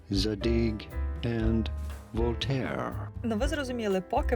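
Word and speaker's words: Zadig & Voltaire: бренд задік і Вольтер зараз вставлю як правильно потрібно вимовляти його за дійки і вольтет in english to sayat задинь енд Волтер но ви зрозуміли поки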